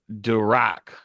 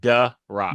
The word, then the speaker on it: Durak: And it's Durak, The Rock. duh, like duh rock.